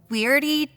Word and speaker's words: W.E.I.R.D.E.: I work for the weirdy task force. The weirdy task force. The E can be silent.